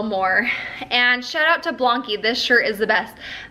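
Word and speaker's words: BLANQI: into it and blany I've figured out how to say it's like saying donkey but with a B blany this company b l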